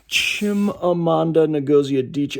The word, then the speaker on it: Chimamanda Ngozi Adichie: Now, the book that I started after that was Americana by Chimamanda Ngozi Adichie. I might have put her names in the wrong order. Let me double check. Chimamanda Ngozi Adichie.